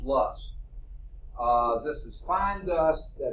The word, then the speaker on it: loess: It looks like loss or something like that. It's pronounced loess.